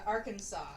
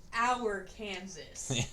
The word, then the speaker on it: Arkansas: Marcus says Arkansas. It's illegal to mispronounce Arkansas. Really? In Arkansas. So you can't go to Arkansas and go, oh, I like Arkansas. It's such a pretty state. It's our Kansas.